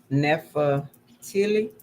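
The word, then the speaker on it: Naphtali: the eighth son and neph nepha tilly that's how you pronounce that the ninth sign and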